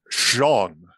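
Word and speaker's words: Sjón: a writer Wikipedia has his name as basically Sean like like kind of almost rhyming with John like if you put the H in the front Okay Okay um but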